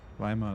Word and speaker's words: Weimar: i know i know we're pronouncing weimar wrong but that's how you that's how you pronounce it in english i know it's it's weimar but it's like it's pretty close it's okay fire on